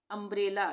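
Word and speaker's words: umbrella: तीसरा है अंब्रेला। यहां पे यू से शुरू हो रहा है और इसके बाद दो कोसोनेंट आ गए। ठीक है? तो यहां पर भी हम इसको अ का उच्चारण करेंगे। यू के लिए अंब्रेला।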